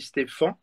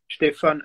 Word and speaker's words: Stefan: En fait, ça s'écrit Stefan. Donc, Ouais, pas de PH, pas de à la fin. Donc, ça se dit Stéphane. ouais. Stéphane en allemand, comme c'est ma langue maternelle.